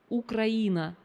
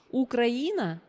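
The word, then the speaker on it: Украина: like Ukraine and this word Ukraine in Russian it means it's um pronounce ukraina ukraina which is Ukraine now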